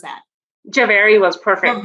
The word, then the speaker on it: Jhaveri: How do I pronounce that? Jhaveri was perfect. Jhaveri.